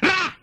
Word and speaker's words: Ra: Egyptian sun god. One syllable yan. Ra!